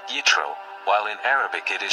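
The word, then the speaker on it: יִתְרוֹ: His name, in Hebrew, is pronounced Yitro, while in Arabic it is Shoaib.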